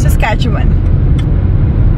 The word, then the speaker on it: Saskatchewan: course now babe help me sis Catan s Saskatchewan Saskatchewan okay is it Fort Saskatchewan it's okay so guys we're in for we're